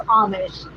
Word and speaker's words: Amish: I always say Amish since it's spelled with an A, but it's Amish.